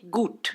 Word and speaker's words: gut: Então, por exemplo, em alemão, bom fala-se gut. Em hebraico fala-se git. Então, em Yiddish. Em Yiddish, desculpa, errei. Errou. Em Yiddish fala-se Git e em alemão falaria-se Gut.